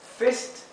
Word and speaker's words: fist: Otro ejemplo, fist y feast, también con la i corta y la i larga, ¿verdad?